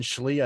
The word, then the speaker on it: Schlee: But I think Colin Schlee, I think is how you pronounce his last name.